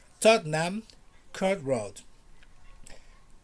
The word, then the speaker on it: Tottenham Court Road: called tottenham courtroom repeat after me please tottenham tottenham court road nam kurt road nam kurt road piccadilly circus